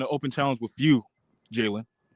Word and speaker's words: Jayden: So now I'm looking ahead and I'm issuing an open challenge with you, Jayden. I'm not Jaylen. Say my name correctly.